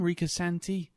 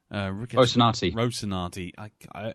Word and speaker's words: Rocinante: And the fact that you get I can never pronounce the bloody name, Rocinante. Rocinante.